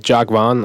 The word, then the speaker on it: Jacques Vaughn: Shout out to Jacques Vaughn. I believe that's how you say his name. Yes, Jacques Vaughn.